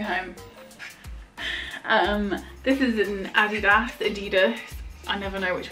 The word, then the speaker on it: Adidas: way around it is I think English people say Adidas Americans say Adidas cuz of Run DMC right they were like don't touch my Adidas whereas UK people like Adidas so if I ever run